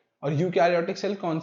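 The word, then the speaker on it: eukaryote: इसके बाद यूकैरियोटिक cell में most यूकैरियोटिक cell are multicellular. जैसे इसमें यूकैरियोट में EU आता है स्पेलिंग में, बट हम इसे क्या कहते हैं, यूकैरियोट, तो इसमें E साइलेंट होता है।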